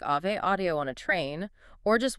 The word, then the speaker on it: Ave Audio: v e but pronounced Ave Audio, like the Latin Ave Maria, not like the avenue you drive on.